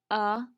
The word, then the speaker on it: alive: Remember, when A is a syllable of its own, it's going to be a schwa A. So we're going to put an upside down E here.